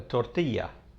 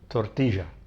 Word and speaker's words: tortilla: will call it a tortilla. But I'm from Argentina, from Buenos Aires, and we speak a dialect called Rio Platense, and the double L in Rio Platense is je. So I pronounce it tortilla.